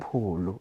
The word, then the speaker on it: Polo: Because there's Polo with a double O and now it's one O. I'm thinking, is it Polo or Polo? Polo. Polo. It's same as Tolo.